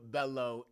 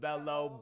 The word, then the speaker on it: Bellow: My name is Bellow. H A B I B. Bellow. Bellow spelled like hello but with a B.